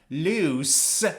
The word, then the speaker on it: loose: The first one is pronounced loose with the sound s.